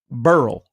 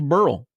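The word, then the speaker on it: Beryl: got we got Barrel I think people are pronouncing it incorrectly I think it's Burl I think it's Burl too but they like to say barrel and I don't think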